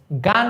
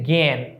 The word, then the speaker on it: জ্ঞান: বাদ দিলাম এটা দেখতো এটা কিন্তু আমরা গান বলছি না এটা কি আমরা গান বলছি এটাকে আমরা বলছি জ্ঞান তারানে এটার উচ্চারণ অনেকটা এরকম এটার উচ্চারণ অনেক এরকম জ্ঞান চন্দ্রবিন্দুতে জ্ঞান এইভাবে তাহলে দেখো এখানে একটা